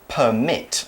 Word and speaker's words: permit: here it's a verb permit okay the emphasis is on the second syllable permit so you could